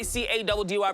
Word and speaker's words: Caddy: Your boy C-A-D-D-Y, pronounced Caddy, is in the building to give you all the stories that you need to know.